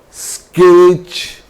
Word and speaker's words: sketch: T is silent when it is used before CH. For example, you know all these words are very, very common. Catch, sketch, stitch, watch, which, and WHICH both are same in pronunciation.